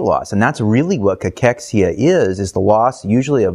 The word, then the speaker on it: cachexia: It's cancer cachexia.